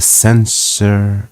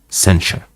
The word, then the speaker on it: censure: And after many gracious expressions, which to avoid the censure of vanity. I hope I'm pronouncing this correctly. Not sure, so let's make sure. Censure. Censure. Censure. It's with a sh, not the.